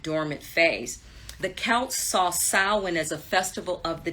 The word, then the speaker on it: Samhain: Some people say Samhain, but it's pronounced Samhain.